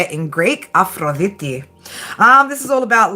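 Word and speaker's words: Αφροδίτη: Aphroditi, that's how you say it in Greek. But Aphrodite would do just fine, right?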